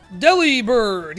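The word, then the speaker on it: Delibird: Oh, deli bird. Yeah, right. Like like like there's irrefutably like undeniably the way it has been pronounced officially throughout all of Pokemon is Deli Bird.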